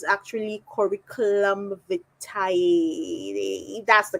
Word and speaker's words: curriculum vitae: So we call CVs, but it's actually curriculum vitae. That's the correct pronunciation.